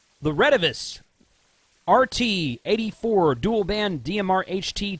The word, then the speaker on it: Retevis: Some people say Retevis. I've always heard it pronounced Retevis. Honestly, if you were to go to China and ask them how to pronounce it, it would probably be something totally different. Like Waxon is actually pronounced O-Chang. Okay. Anyway, so Retevis is how I say it.